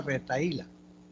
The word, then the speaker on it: retahíla: Con H intermedia, retaíla. 4. 4. Esta palabra retahíla. ¿Se tilda o no se tilda? Sí, ¿Por qué? porque tiene yato. Hiato acentual. Tiene que ser hiato acentual porque hay un hiato simple también. Este es hiato acentual. La H es muda ahí.